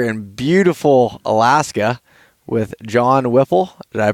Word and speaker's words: Whipple: And I'm sitting here in beautiful Alaska with John Whipple. Did I pronounce that correctly?